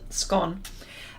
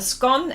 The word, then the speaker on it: scone: you call it scone i know it's spelt o-n-e i get it but that's how we pronounce it scone a scone and a rock cake